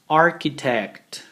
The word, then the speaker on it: architect: after me please repeat architect architect architect notice that even though we have a CH combination here the pronunciation will be like this architect there are many examples